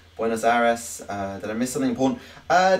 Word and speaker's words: Buenos Aires: No, you don't roll your R's in Spanish. Well, you do, but you don't roll on that R. Buenos Aires.